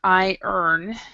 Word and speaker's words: iron: in in english um we actually pronounce this word i earn and i liking i liken it to a sentence um about money so bear with me